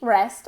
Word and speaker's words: rests: Entonces, the easiest way to say this, okay, because we have an S, a T, and an S, is saying on the one hand, rests, R-E-S, res. And on the other hand, tss, tss, like a drum, like you're playing the drums.